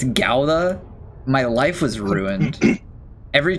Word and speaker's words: Gouda: Like the day that you told me it wasn't pronounced GA, it's Gauda.